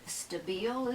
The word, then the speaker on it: Stabile: I please interrupt dick stabile is it yeah the I is an e sound right yeah dick was